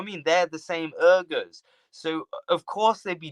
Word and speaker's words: Uyghurs: Uyghurs. Yeah, I'm sorry if I'm mispronouncing it. You're not mispronouncing it. It's just a language difference.